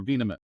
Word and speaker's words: Venam: what's the right way is it venin or Venom there you go right there venam so ven the short so for for for